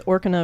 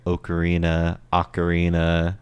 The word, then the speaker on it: Ocarina: I know, it's like my favorite's Orcana of Time. Orcana. Like, Oh god. like Link's an orc. Oh God. Modded. Yeah, well, with that you hear Ocarina, and all kinds of different pronunciations, but I haven't heard that one.